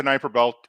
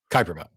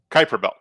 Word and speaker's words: Kuiper belt: do you agree the Knifer belt exists and I may be pronouncing it incorrectly Kuiper belt Kuiper belt sorry the Kuiper belt if somebody can somebody